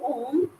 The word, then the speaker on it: Om: it once inhale when I am pronouncing om the ma ending should be longer than um we generally people do the reverse way oh they say for a longer time they just put full